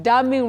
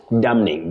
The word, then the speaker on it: damning: Damning report. How do we go about that one? Oh, Betty, that N, the N in that word is silent.